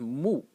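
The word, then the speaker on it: 目: It's pronounced mu.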